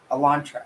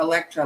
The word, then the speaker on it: Elantra: the white Elantra Elantra I actually said it right that time I did for some reason it's like it comes out of your mouth all messed up I just assumed it was going to come out Electra like I've been saying and I was gonna fix and I was like wait I didn't say it wrong this time okay oh leg legs